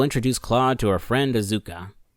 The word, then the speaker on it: Asuka: Claude to her friend isuka which technically should be pronounced as Asuka but to keep continuity with the game I'm going to pronounce it how they do she leads the Yakuza